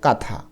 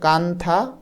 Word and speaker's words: কাঁথা: এন টা আসে এবং এই এন এর উচ্চারণ কিন্তু হয় না এজন্য দেখো কাথা এখানে